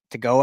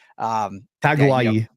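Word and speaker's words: Tagoa'i: I think in this 25 class, you look at Matai Tagoa. I always say his name wrong, his last name, but Taguai. Thank you. Much better.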